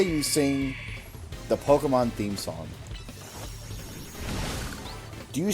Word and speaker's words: Pokémon: God, you have no idea how much I hate the word Pokemon. It's Pokemon. There's no E. There's no I there. There's no Y there.